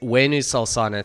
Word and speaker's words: Huenu Solsona: Argentina where she hails from, but that is Huenu Solsona.